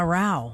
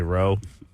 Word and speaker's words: Rao: And here, to answer your question, Ryan, the correct way to say it is the way I heard his grandmother be called at his wedding in Cancun, Grandma Rao. Yep. Oh. In Illinois, it's Rao. So it's Rao. But I gave up here. I just say Roe.